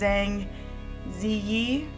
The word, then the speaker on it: Zhang Ziyi: Oh, well, how they say it, in most Asian countries the last name comes first, but it's Zhang Ziyi.